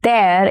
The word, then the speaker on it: there: But when you place it in there, it becomes there. It rhymes with air.